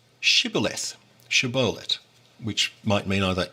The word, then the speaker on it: Shibboleth: If he said no, they would say to him, Then say Shibboleth, Shibboleth, which might mean either ear of grain or stream. It's a bit dubious. But the Ephraimite would say Sibboleth, not being able to pronounce it correctly.